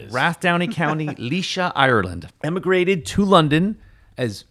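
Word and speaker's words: Laois: It's pronounced Leysa. Born in of course it is. Wrath Downey County, Leysa, Ireland.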